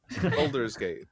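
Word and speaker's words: Baldur's Gate: Oh, I'm sorry if I've mispronounced the name wrong. Jose, what's the name? Boulders Gate.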